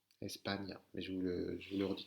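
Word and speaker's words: España: Donc, si vous avez le mot, par exemple, Espagna, Espagna, c'est écrit E-S-P-A-N tilde, N avec la vague, A. Espagna.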